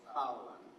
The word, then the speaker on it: Fowler: È noto che l'ammiraglio Fowler, si pronuncia Fowler, si è opposto alla dottrina nuova, di usare le bombe atomiche bunker buster per i sotterranei come un'arma convenzionale contro l'Iran.